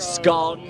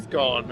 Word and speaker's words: scone: Do you pronounce it scone or scone or scone depending on if you're from the north of England or the south.